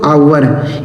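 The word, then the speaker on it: hour: आगे लिखा एच ओ यू आर इसे पढ़ते हैं दोस्तों आवर। एच ओ यू आर इसे पढ़ते हैं आवर। यहां एच साइलेंट होता है। मतलब इसे नहीं पढ़ा जाता है।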